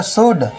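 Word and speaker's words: should: शुड यानी एस एच ओ यू एल डी को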